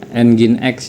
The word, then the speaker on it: Nginx: Saya akan e coba mengkonfigurasi apa itu namanya eh engine X ya. Kalau tulisannya sih tulisannya ngings gitu ya, tapi dibacanya itu engine X biasanya.